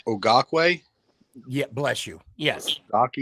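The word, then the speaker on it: Okereke: here's how it's pronounced here's how it's pronounced it's pronounced o karake okay I've heard okay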